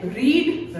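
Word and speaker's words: read: Waals inconsistent होते हैं जैसे रीड रेड वही स्पेलिंग है आरई एडी रीड आरई एडी रेड अब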